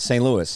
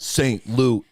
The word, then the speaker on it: St. Louis: we're not St Louis it's like it's like one word St Louis it's not Saint Louis I know but then